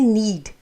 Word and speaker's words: knead: अब जो आटा है जिसको हम गूंदते हैं उसको कहते हैं नीड, KNEAD। इसमें के जो है वो साइलेंट है, नीड।